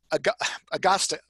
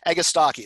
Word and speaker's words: Agastache: Agasta, I always mess up the pronunciation of this one. Agastache, there we go.